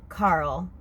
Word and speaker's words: Carol: It's pronounced more like Carl with the Jamaican accent, but it's Carol.